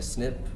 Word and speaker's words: SNP: interested in tongue twisters you can just call it a snip short or the pronounced version of SNP uh this 30 megabytes